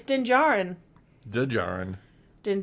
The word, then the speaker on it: Djarin: There's a D there that I really want to pronounce. I know it's wrong, and I'm so sorry. I know. Din Djarin. Din Djarin. It is there. It's in the sound. It's yes. Djarin. With a D in it.